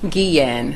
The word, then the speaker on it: Guillen: Guillen. So the L's are Y's and the U is silent.